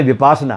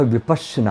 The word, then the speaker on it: विपश्यना: वापस भारत आई है कि लोग भारत में इसका बहुत गलत उच्चारण भी करते हैं कि वह कैसे विपासना अ है जिसका तो 38 होता है उल्टा बैठना है कि विपासना का अर्थ होता है उल्टा बैठना इसका जो सही उच्चारण है वह विपश्यना अ कि संस्कृत और हिंदी